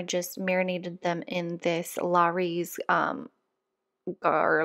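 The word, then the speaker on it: Lawry's: marinated them in this Larry's um or like an herb yeah Loris is how you say it herb and garlic upward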